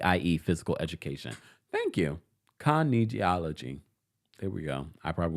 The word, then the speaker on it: kinesiology: thank you Mama Ali Mama Ali says it's pronounced geology thank you meaning physical motion of the body I.E physical education thank you Kinesiology there we go I probably will not remember